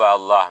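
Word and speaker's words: الله: Kemudian nah huruf yang lafai kusub Allah mesti lafai jalalah nyo bila misi bari dilikut bari fathah cara baca ji tebal, demikian andai dilikoji baris kasrah,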